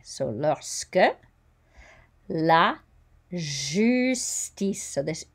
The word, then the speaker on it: justice: And the J is a J sound, like as in je. Justice. The I is an E. The C sounds like an S. And we don't pronounce, whoops, just going to try to, we don't pronounce that E.